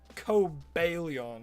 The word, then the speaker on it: Cobalion: That should have been the Cabalion, damn it. Or coalon as some people call it. But I'm pretty sure its name is meant to be like kind of a base off of a cobalt.